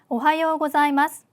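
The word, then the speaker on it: おはようございます: 발음이라고 보시면 됩니다 그러니깐 자가 아니라 Z 발음이 들어가서 자 이렇게 발음을 하셔야 됩니다 자 발음 주의하시면서 두 번 연습해 보도록 할게요 오하요 고자이마스 오하요고자이마스네 안녕하세요라는 인사 존댓말로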